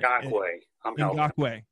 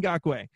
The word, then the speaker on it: Ngakoue: I never can pronounce this name. Ngakoue. There we go. Yannick Ngakoue.